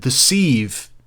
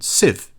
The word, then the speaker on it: sieve: and the sand now if you would have asked me um before about 10 minutes ago i would have said deceive and the sand because it's spelled s-i-e-v-e and for that many letters i think you deserve a longer word and sieve just seems more respectful longer than civ civ isn't a word see there's words and